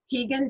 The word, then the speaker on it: Pegan: the I don't know if I'm going to pronounce it correctly, Pegan diet? Yeah, the Pegan diet.